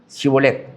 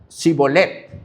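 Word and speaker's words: Shibboleth: Entonces le decían, "Si pues di pues la palabra cibolet, chibolet. Shibolet." Pero él decía cibolet, no chibolet, porque no podría pronunciar correctamente.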